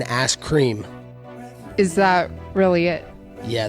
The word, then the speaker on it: Askren: telling you guys ben askren you said it wrong it's it's been ass cream is that really it